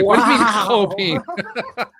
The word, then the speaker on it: Chopin: And like, what do you mean Chopin? So apparently that's the correct pronunciation of his name, Chopin.